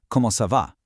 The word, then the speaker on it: comment ça va: When spoken quickly by locals, comment ça va doesn't sound like three clunky separate words. It runs smoothly together into one sound, comment ça va. It just flows seamlessly off the tongue.